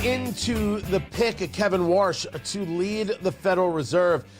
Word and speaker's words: Warsh: And it's Warsh. I'm not pronouncing Washington wrong. W-A-R-S-H is his name.